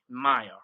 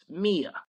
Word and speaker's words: Mia: one of the characters is m i a Maya right so I pron I made my wife pronounce Mia so the backstory of that is is yeah